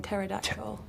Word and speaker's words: pterodactyl: Think about the name pterodactyl. Pterodactyl. Cuz they tear off a piece of toilet paper and stuff it in your ears. That one's a good one. But because the P is silent.